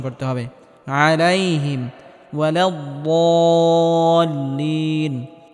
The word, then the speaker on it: الضالين: আলাইহিম ওয়ালাদ-দাল্লিন, এখানে বদটিকে মোটা করে উচ্চারণ করতে হবে এবং হালকা আওয়াজ জারি রেখে উচ্চারণ করতে হবে।